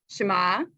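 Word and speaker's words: שמה: called homophones in english things that sound the same but are spelled differently shema for her name and shema right for listen you literally you'd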